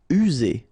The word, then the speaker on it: user: User. Remember only one S here and you've got two vowels, so it's Z. User.